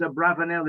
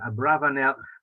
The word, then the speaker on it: Abravanel: So possibly that's a more correct Spanish pronunciation, Abravanel, but he is normally known as Abarbanel, and we'll use that term as well.